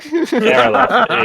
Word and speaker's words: Aerolith: Aerolith, yeah. Rhymes with Aerosmith, kind of.